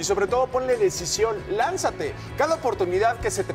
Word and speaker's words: lánzate: Lánzate. Acento en la N. En la, papá, lánzate.